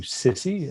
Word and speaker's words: SSCI: SSCI, which is commonly abbreviated into SISI, just sort of a pronunciation, released a 1,000-page report.